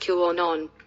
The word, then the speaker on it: QAnon: And it's pronounced QAnon.